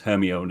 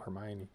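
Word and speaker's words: Hermione: i people people thought it was it was herone until they learned it from the film it's like oh hermion yeah I it's one of the things where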